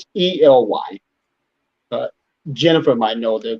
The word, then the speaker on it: Ely: Highway 93 goes south from West Wendover, and it goes to Ely, either Ely or Eli. It's Ely. Jennifer might know the correct pronunciation. But 93 goes down to Ely, and then it crosses 50.